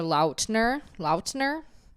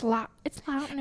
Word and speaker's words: Lautner: Joey King, Presley Cash, Taylor Lautner. Yeah, I keep seeing people saying that he said it. He said it. People are have always pronounced Lautner. I always said Taylor Lautner. Lautner. L-O-T. Like lot.